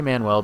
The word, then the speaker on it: Manuel: And I say Manuel because it's spelled Manuel. Manuel's a name, M-A-N-U-E-L. Manual is M-A-N-U-A-L, and that's the word that it's probably intended to be, but that's not the point.